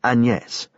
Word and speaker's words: Agnes: he her name was Agnes pronounced anes she was Belgian anus dequa the three